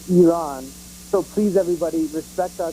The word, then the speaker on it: Iran: senators, the president, and callers to C-SPAN can't pronounce the name of our country correctly. It's not Iran or any of the silly, stupid things people say. It's Iran.